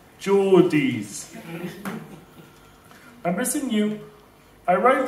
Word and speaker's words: Geordies: She texted me saying, stay safe, because the Georgies haven't seen a talking frog before. I text back saying, I will be fine, and I think it's pronounced Geordies.